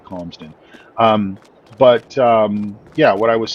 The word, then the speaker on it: Calmsden: the way, it's pronounced Calmsden Park Farm and not Clamsden, as you might hear other YouTubers and such refer to it. It's not, you don't sell clams here. It's a very calm community, Calmsden.